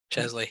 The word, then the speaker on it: Chesley: Chesley, yep. Chesley, there we go. That's spelled incorrectly on Wikipedia.